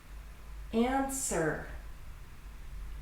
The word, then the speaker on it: answer: Silent W, words that have a W in them that are not pronounced. Answer.